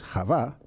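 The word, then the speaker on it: חוה: Digo la mujer, no digo Eva, porque Eva, el nombre Eva, el personaje bíblico que conocemos como Eva, en hebreo es Javá, solamente entra en escena una vez que se ha producido la expulsión del Gan Eden, del jardín del Edén.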